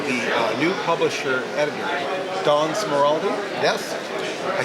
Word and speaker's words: Smeraldi: I'm with the new publisher editor, Don Smeraldi.